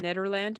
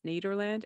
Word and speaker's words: Nederland: dusty bottoms Ned Nederland I feel it should be pronounced Netherlands but it's Nederland and lucky day which